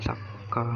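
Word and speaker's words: サッカー: Kalau di Jepang bahasanya saka, bacanya saka gitu.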